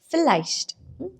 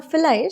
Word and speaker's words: vielleicht: So today we are going to talk about this word called vielleicht. Vielleicht. Now vielleicht starts with V, okay? But it is, that's why it is pronounced with first sound, not vielleicht.